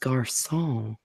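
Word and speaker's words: garçon: turn to my father's it will will it's pronounced gar song what what you mean that's what that little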